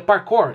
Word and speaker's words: parkour: sair de mim, mas a palavra se pronuncia parkour, e pelo que eu ouvi aqui, é bem parecido da maneira que eu pronunciei no vídeo.